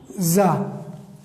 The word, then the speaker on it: tsar: TSAR یس اس کی دیکھو اس کی تلفظ کیا ہے؟ زا.